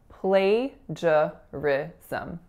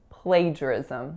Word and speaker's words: plagiarism: lot of places so in plagiarism there are four syllables the first one is play the second one is just so swap then we have Rick and then some so another schwa plagiarism plagiarism with the winner on the first next up we have